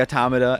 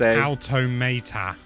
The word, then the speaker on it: Automata: Is Nier Automata or Automata. I used to say Automata, and now I'm trying to say Automata.